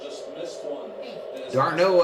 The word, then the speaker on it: d'Arnaud: Darno just missed one. D'Arnaud, I guess is the way you say his name.